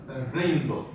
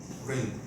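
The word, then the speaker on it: Rijndael: uh basically this uh this is uh pronounced rainbow rainbow okay and basically this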